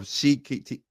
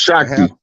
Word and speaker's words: Shakti: Arthur Basham, a well-known historian of India, wrote, "These themes of Shikti, how you say her name? Say that Shakti. name again, Rod. Shakti. It's pronounced Shakti.